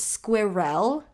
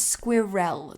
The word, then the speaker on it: squirrel: north america say squirrel no it's squirrel it's squirrel there there is two syllables squirrel not squirrel what is a nut